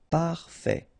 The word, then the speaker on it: parfait: Final T not pronounced. Parfait.